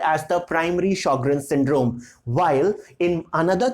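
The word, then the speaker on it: Sjögren: found in some other patients so initially the shokran Sjogren's syndrome the correct pronunciation for this is Sjogren's syndrome so this Sjogren's syndrome initially it was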